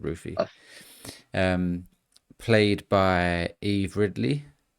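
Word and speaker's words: Ruthye: It's spelled R U T H Y E. I'd say that's called Ruffy.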